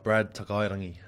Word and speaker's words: Brad Takairangi: Brad Takairangi.